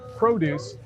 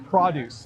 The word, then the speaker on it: produce: we usually call this produce but sometimes we say produce it kind of has two different pronunciations hi Jim how are